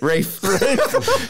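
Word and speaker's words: Ralph: and then I have raal fins from uh Rafe Rafe see you said it wrong I know okay hold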